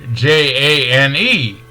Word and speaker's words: Jane: the A, and then the J-A-N-E is pronounced Jane. Jane, because the A had to say its name and the E didn't have to say anything at all.